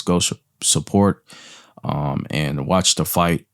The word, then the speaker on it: FITE: So make sure you guys go support and watch the fight on Fight TV, and that's spelled FITE. TV.